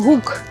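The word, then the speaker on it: Haken: До речі, чи знаєте ви, як німецькою вимовляється "гачок" ? Хакен. Ось так. Звучить схоже на українську.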